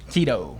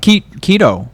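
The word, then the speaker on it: Kitu: Keto. Keto, but so it's spelled K-I-T-U. Oh, okay. Oh, K-I-T-U. K-I-T-U. Oh, Keto, I guess, yeah.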